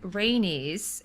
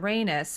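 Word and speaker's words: Rhaenys: time that I said rainey's instead of raynus and I said but it rhymes with anus so I've always said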